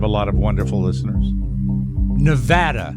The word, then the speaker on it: Nevada: lot of wonderful listeners Nevada Nevada as they pronounce it not Nevada Nevada Nevada yeah Nevada